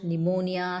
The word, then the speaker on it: pneumonia: It is silent in words like cupboard, pneumonia, salem, receipt, etc.